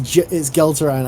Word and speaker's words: Geltaran: His name is pronounced. The G is pronounced as a J. He's lying. It's Gelteran. I nearly said it as well.